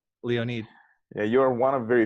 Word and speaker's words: Leonid: How do you say your first name, by the way? Leonid. Leonid? Yeah. Okay, Leonid. All right. I didn't want to call you Lenoid.